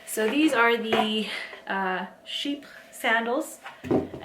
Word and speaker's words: Chypre: these are the uh sheep sandals and I'm pretty sure that's how you pronounce it cuz everybody like I like I don't think it's chippers but pretty sure it's called Sheep so the sandals now as